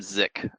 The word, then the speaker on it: Sick: 1940s by Irwin Irwin zik his last name is spelled sick but zi in German and so we've been